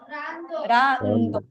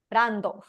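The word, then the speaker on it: ランド: The word land in Japanese is always pronounced rando. Rando. Like Finland is Finlando.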